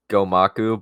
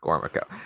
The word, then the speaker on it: Gormaco: For the bit, I will say Gomaku, but it's actually just Gormaco.